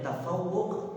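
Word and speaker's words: تفوق: Wat tafawuq Alal Ar ini bacanya tafawuq Alal AKR atafawu dari kata fauqo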